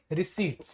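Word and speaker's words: receipt: है इस तरफ है आपके रिसीप्ट पी आता है पर पी को प्रोनाउंस नहीं करते ठीक है यहां है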